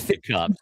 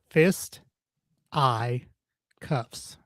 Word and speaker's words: fisticuffs: So you thought it was fist to cuffs. cuffs as well? What? So you thought it was go. fist to Yeah. There you go. Fist I cuffs.